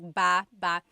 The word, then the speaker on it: baba: So depending on how you're saying it, it could be baba, chin, baba. Emphasis is on the first syllable. Baba. Then there's baba baba. Emphasis is on the second syllable syllable. That means to go down.